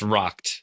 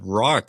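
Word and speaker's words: Rokt: Uh, Michael, I've rocked. That's probably the single most asked question here. It's pronounced rocked. Like, I drank too much and got rocked last night.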